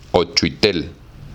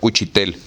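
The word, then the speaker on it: учитель: Ouchuitel. Se pronuncia Uchitel, perdón. Maestro, así en el original.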